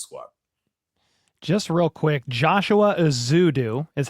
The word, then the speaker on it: Ezeudu: Just real quick, Joshua Ezeudu is how you say his name.